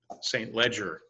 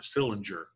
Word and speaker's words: St. Leger: under brigadier general Barrie st. Leger or stillinger depending on how you prefer to pronounce it that's going to